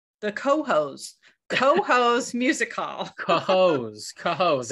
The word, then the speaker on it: Cohoes: Billion times that it's pronounced Cohoes.